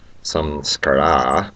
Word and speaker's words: samskara: And that impression is called a samskara, or I think the better Sanskrit pronunciation is samskara, but being from the south, I'm just going to call it a samskara.